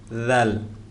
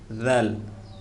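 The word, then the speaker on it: ذال: হবে হা দাল জাল যখন এই জাল পড়বো তখন জিহ্বার আগা সামনের দিকে একটু বের হয়ে যাবে জাল জাল জাল কফ কাফ ওয়াও অনেকে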